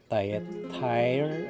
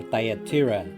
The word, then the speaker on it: Thyatira: We're already in Thyatire or Thyatira.